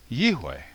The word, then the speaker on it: יהוה: so in my opinion the pronunciation of the name yod VAV is yway I should point out